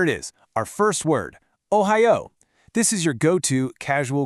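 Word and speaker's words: おはよう: So, from now on, when you think good morning, I want you to think ohayo. Go on, try saying it out loud with me. O-hi-yu.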